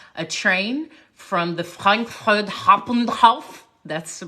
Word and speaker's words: Hauptbahnhof: And our time was getting close because we had to take a train from the Frankfurt Hauptbahnhof.